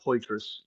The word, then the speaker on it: Poitras: My name's Poitras.